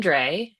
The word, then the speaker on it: Drey: So, can you tell what is the correct way to pronounce your last name? I am Dre and I am of the northwest Iowa Dre by marriage.